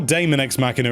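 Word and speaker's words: Daemon X Machina: September we have got demon eggs machina or daemon ex machina as some people are pronouncing it hand at this point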